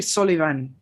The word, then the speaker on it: Solivan: at all um so the last name is actually solivan right uh it's very hard to get folks to pronounce that uh though i tried